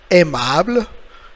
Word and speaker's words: aimable: Alors, il faut dire, we have to say aimable. Une autre fois, E est muet. E est une lettre muette. It's like a mute. Means what? Silent letter.